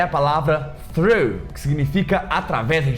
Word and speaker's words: through: Por que é tão difícil o through? Primeiro que tem aquele GH no final, que não tem som nenhum, ele simplesmente é mudo.